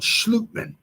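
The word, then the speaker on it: Schlottmann: center and Austin it's either either schlotman I've also heard it called slutman it was a Danish pronunciation Austin slutman is the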